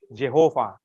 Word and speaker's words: Yahweh: Padahal W-nya itu belum tentu W dibacanya, ada yang bacanya V. Ya. Ya. Makanya ada yang mengusulkan bukan Yahweh tapi apa? Jehovah atau Yehova. Ya. Tapi paling banyak orang menerima adalah Yahweh.